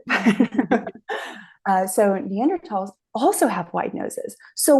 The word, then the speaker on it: Neanderthal: another footnote neander not Neanderthal because in Germany which is where the first neander tal was ever discovered Germans don't pronounce the th sound they pronounce it t so neander Valley neander